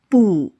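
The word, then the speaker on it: 不: Pay attention to the retroflex r ending in pronunciation. dian you dian bu Bu is a negative adverb meaning no or not. Bù.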